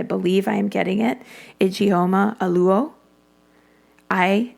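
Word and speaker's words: Ijeoma Oluo: talk about race and forgive me if I'm mispronouncing the the name but I believe I am getting it igoma aluo i j e o m a for the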